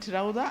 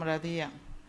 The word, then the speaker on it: Radiya: My name is Radiya. My tribe calls me Razia. If you have ever heard of those people. I'm not Rawda, I'm Radiya.